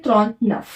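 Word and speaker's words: trente-neuf: 39 को बोलते हैं त्रॉन्त नफ। इसको त्रॉन्त, इसको नफ, साथ में मिला के हुआ त्रॉन्त नफ, है ना।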